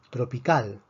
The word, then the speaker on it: tropical: Tropical. Tropical es una palabra aguda. La fuerza está en la última sílaba.